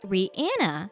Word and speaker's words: Rihanna: Rihanna prefers to have her name pronounced Rihanna. Rihanna's name is pronounced Rihanna rather than Rihanna, according to a number of videos of the singer demonstrating her pronunciation.